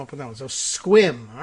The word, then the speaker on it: Sequim: chiming in tells me it's squim is the actual pronunciation for the town that is spelled Sequim but I guess you